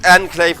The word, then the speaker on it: Enclave: And it is Enclave with an A. Before somebody says I'm mispronouncing, it's literally Enclave. Like that's how he actually spells his name. But it is a reference to the Fallout Enclave. So Enclave it is.